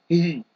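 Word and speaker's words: هِ: Ha with a kasrah. He. So it is actually pronounced he.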